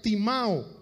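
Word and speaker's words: τιμάω: honra a tu padre es la palabra griega timao como se escucha t i m a o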